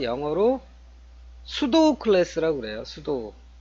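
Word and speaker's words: pseudo: 가상 클래스 가 영어로 수도 클래스라고 그래요 스도 에 화면에 보시는 거 이제 숯 옥 발음이 좀 어렵죠 앞에 피가 무음 이에요 수도 그랬어요 수도 라는 게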